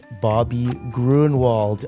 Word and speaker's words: Gruenewald: Today, we have Bobby Gruenewald on.